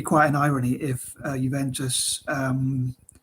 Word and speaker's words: Juventus: not know but yeah juventus um although it's pronounced juventus it starts with j how it's spelt so